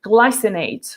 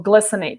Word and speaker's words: glycinate: kind of magnesium is magnesium glycinate or glycinate depending on how you want to pronounce it and that's the one